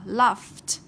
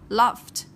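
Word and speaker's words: laughed: Các em lưu ý này, từ này hơi khó một tí nhưng gặp rất nhiều lần. Cái này là chữ GH nhưng mà khi chúng ta phát âm ra nó là âm F.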